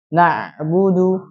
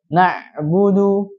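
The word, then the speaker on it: نَعْبُدُ: Mengalir sedikit aliran pada makhraj, sedikit saja ya. Jadi bacanya na, na, na. Ada sedikit apa namanya huruf yang bersambung sedikit. Na'budu, na'budu. Jadi tidak murni tertahan, ya, tidak murni tertahan dan juga tidak terlalu mengalir. Itu na'budu, na'budu.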